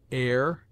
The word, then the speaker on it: heir: with a full breath, except in heir, herb, ostler, honor, humble, honest, humor, and their derivatives.